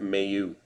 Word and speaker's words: Mayu: Pastak speckle for Boston Logan melu melow Mayu sorry Logan Mayu I believe is how it's pronounced Logan Mayu monreal K